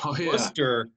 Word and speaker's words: Worcester: Now you guys are located in, and let me pronounce this correctly, Worcester, Massachusetts. Can you tell me about the city and the DCU Center? Yes, sir. So Worcester, Massachusetts, it's, the most central location in our state.